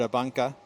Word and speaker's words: ABANCA: of this one the the upgraded newly upgraded ah bunka galicia classic surf Pro I finally figured out